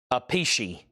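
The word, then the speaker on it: Appice: They are brothers and for some reason they pronounce their names differently. Alex Kaine gets vain for $55." Bizarre, but that's the way they do it. Riot. The last bit on Riot was Clay Moore for $40 and Tony went out. Okay. So, I've learned if I see Carmine, it's peace like a peace sign. The other one is pronounced a pichi.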